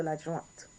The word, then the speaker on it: l'adjointe: Make sure you get that T, so l'adjointe.